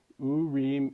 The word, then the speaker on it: Urim: Okay, Urim and Tumim, which some Jewish guy said was how you pronounce it, so I trust him.